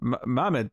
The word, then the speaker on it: Mahmoud: Mark Wade rating with Mohamed Asar and sorry Mahmoud hazar I was I was adding the extra syllable and Scott godlesskay on